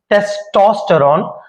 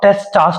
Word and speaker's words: testosterone: बताना चाहता हूं कि इट इ टेस्टोस्टेरोन नॉट टेस्टा न यानी कि इसके स्पेलिंग जो है ट इज टी ई एस टी ओ टेस्टो तो अगर आपका कोच